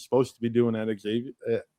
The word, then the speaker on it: Xavier: He's he's doing what I I think he's supposed to be doing at Xavier. Sorry, I said it wrong, Matt. I say it wrong every There's no X. Just Yeah.